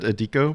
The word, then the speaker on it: Adiko: But yeah, the other guest we have on the show, we have, I've always said Adiko, but I actually don't know if I'm pronouncing it. Adiko is exactly correct.